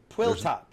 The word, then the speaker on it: PWLTOPS: Quill top.